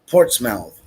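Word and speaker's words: Portsmouth: state of maine and the town is pronounced port's mouth ah okay okay um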